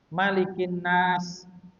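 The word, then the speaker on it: مَلِكِ النَّاسِ: Aku berlindung kepada Rabbnya manusia malikinas kepada rajanya manusia. Jadi kemarin juga sudah disinggung bacanya maliknya itu pendek. Mananya itu mimnya pendek. Malikinas. Jadi jangan dipanjangkan. Jangan malikinas bukan tapi malikinas.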